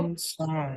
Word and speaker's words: grandson: Acá lo mismo, acuérdate que grand, a pesar de que se escriba con A, va a sonar como E, grand, ¿sale? Entonces, ¿esto cómo se va a pronunciar? Vamos a decir, ¿cómo? Grandson.